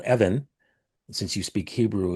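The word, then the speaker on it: Evvin: Evan.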